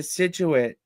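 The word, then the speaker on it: Scituate: Sophia went to Situit.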